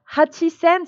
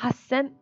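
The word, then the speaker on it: 八千: De toute façon, hachisen, c'est trop compliqué à dire, hein. Et donc, pour un japonais, il va simplifier en disant Hassen.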